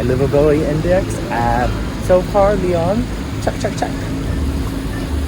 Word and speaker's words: Lyon: rage from the city he pronounced Leon as lion which kind of makes sense because Lon is like what Leon like Leon is named after lions like the animal lion so it would be pronounced lion right uh so please forgive